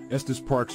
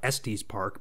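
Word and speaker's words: Estes Park: newslet that's pretty cool because it actually knew how to pronounce Estus Park you know I even hear people in real life typically who are from out of town they call it est's Park but the AI actually knew how to pronounce it so that's pretty cool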